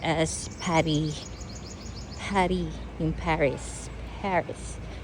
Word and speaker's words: Paris: Pary. Yung Paris. Paris. Pary. Yan ang French pronunciation ng Paris.